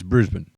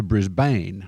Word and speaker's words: Brisbane: Now, Brisbane. Spent like 2 weeks in Brisbane and I really liked it. If you're an Aussie, it's Brisbane. But Americans turn it into Brisbane like it's some sort of poison.